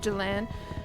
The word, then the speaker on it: Jillian: Is Jillian pronounced Jillan or Jillan? I say it like Jillan.